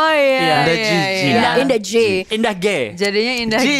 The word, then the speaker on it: Indah G: Oh itu bacanya Indah Ji. Indah J. Aku Indah nggak J. aku nggak pikir awalnya karena aku bahasa pengantarnya Inggris ya. Iya. Jadi aku sebut nama aku Indah J.